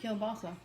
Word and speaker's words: kielbasa: That's how you say it, kielbasa. Kibasi. Kibasi. If you look how it's spelled, it's I don't give 2 kielbasa.